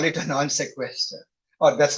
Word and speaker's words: non sequitur: When it is not, you call it a non sequitur, or that's how you write it. I don't know what the exact pronunciation is.